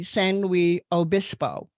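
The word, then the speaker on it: San Luis Obispo: Virginia and an engineering degree from Cal Poly senwi Obispo did I pronounce that right that's correct yeah okay that's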